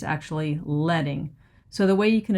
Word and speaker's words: leading: And it is pronounced like pencil lead. I used to call it leading but it's actually letting.